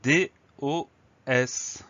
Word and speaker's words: dos: Le mot dos, il s'écrit tout simplement D-O-S.